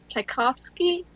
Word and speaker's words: Tchaikovsky: With the music, you know, the music they use is Tchaikovsky.